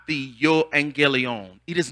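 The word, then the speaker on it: εὐαγγέλιον: he has risen the gospel in Greek it's pronounced yo Angie Leone yo Angie Leone the this word gospel means good news the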